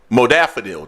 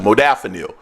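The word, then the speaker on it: modafinil: people use it for concentration it's a stimulant modafanil that's how you pronounce it modafanil I've seen this in the past it's called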